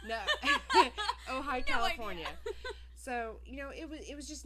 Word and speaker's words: Ojai: I was reading it as Ojai. No. Ojai, California.